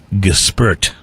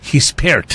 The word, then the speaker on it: Gispert: something that wasn't correct I was calling it Goose pert or just burped but that's actually this he spared his fare is how you said he's paired